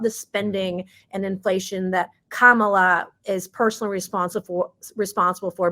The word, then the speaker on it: Kamala: didn't say it wrong I now know it's Kamala some people want to say kamila whatever you want to